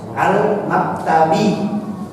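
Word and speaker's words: الْمَكْتَبِ: Kenapa kok dibaca maktabi? Karena ada ala. Karena ada ala maka dibaca al-maktabi. Ya kan? Dibaca kasrah kenapa? Karena ada ala. Kalau tidak ada ala maka bacanya dhamma.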